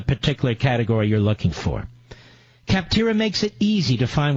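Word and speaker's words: Capterra: CIP ter RA just check it out phonetically kaptara comm slash levin le VI and check it out today join the millions of people who use cap tira that's cap tira CIP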